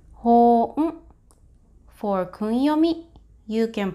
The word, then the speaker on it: 本: For onyomi, this is pronounced as hōn. For kunyomi, you can pronounce as moto. The basic meaning of this kanji is book and base. For now, please remember hon means book.